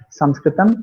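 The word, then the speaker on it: संस्कृतम्: that to in Sanskrit it is known as Sanskritam, but we are pronouncing it here because our mode of communication is English. We are saying it as Sanskrit, but this is not the correct pronunciation. Sanskritam is the correct pronunciation.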